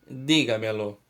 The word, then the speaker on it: dígamelo: Vamos pegar a palavra dígamelo. Lo como última sílaba, me como penúltima sílaba, ga como antepenúltima sílaba e di como anterior à antepenúltima sílaba. Então, repitam comigo. Dígamelo, dígamelo. Qual é a sílaba tônica? Di, que é a sílaba mais forte.